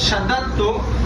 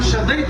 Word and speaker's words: شددت: دوسرا لفظ شددت، جو کہ ہم شدیت پڑھتے ہیں جو بالکل غلط ہے.